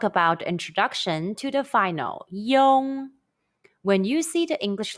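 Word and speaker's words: yong: in the video carefully and repeat after it young young young when the final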